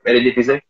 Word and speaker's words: Eredivisie: I'm pronouncing it right, Eredivisie?